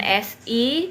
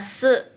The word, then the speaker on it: si: Nah, S dan I itu selalu dibacanya se ya. SI se.